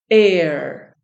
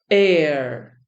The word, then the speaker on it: heir: do we pronounce this air air the H is silent heiress Eris air heiress